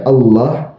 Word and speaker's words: Allah: Jadi ketika seorang muslim membaca Allah a l a ha dibaca Allah tafhimnya dibaca tebal bukan Allah tapi Allah dibaca tebal karena memang begitu bacaannya dalam Islam seperti itu.